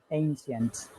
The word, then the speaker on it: ancient: Yes, Ancient. good. Next one. Gorgeous. That's fine. Breathtaking. The first syllable.